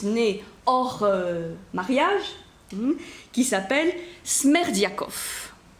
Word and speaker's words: Smerdiakov: Et il est le père illégitime, on dit, d'un 4e fils, donc un fils né hors mariage, qui s'appelle Smerdiakov. Smerdiakov, ça s'écrit comme ça se prononce, S-M-E-R-D-I-A-K-O-V, dont il fait son domestique.